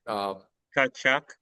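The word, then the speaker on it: Tkachuk: So, anyways, the reason why they had it is they think Matthew to Chuck maybe I pronounce how do you pronounce that, Jake? Kachuk, Yeah, Tutchuk or Kachuk, Kachuk. Okay.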